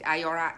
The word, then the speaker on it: IIORA: IIORA, IIORA, I pronounce it IORA, is an institute, is not a Reborn Artist Guild.